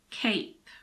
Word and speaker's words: cape: the end it becomes Cape the previous vowel in this case a is pronounced like the name of the letter in the alphabet a cape similarly Cod